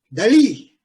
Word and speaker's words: Dalí: Dalí. L'accent is on Dalí.